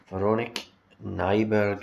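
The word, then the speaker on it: Véronique Nyberg: was released in 2012 so with the aromatic veronik Nyberg is the perfumer like that's how you pronounce her name the note send us a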